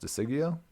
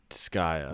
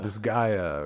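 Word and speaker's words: Disgaea: And one of the things I found was like uh how the is it pronounced? Diggio. is sigya. Is that the one? Disgaya. Disgaya.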